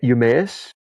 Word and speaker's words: Eumaeus: I think it's Emmaus. Now I might be botching how you pronounce it. Uh, uh, yeah, it's Eumaeus. It just Eumaeus. Eumaeus. Yeah, Okay, I'll just say it like that.